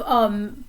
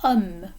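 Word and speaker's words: homme: a vowel sound like um for man that h is silent so the sound that comes after it is a vowel sound so we're going to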